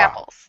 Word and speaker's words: Brapples: It's a short A sound, like apples with a bra. Rapples.